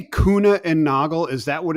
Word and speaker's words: Kuehne: so like I said you know it's it's kuna and Nago Two Gentlemen that founded the company originally yes all right I've I've been missed my apologies to Mr kuna and Mr noggle because I've been mispronouncing it